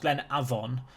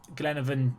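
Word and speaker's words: Glenavon: be taking them on I believe the team is actually pronounced Glenn Avon but glenan is how I've said it and I've cursed myself for life so I apologize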